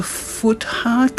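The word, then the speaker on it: Futhark: 24 uh in the Elder Foo heart I think is how you pronounce it um alphabet so this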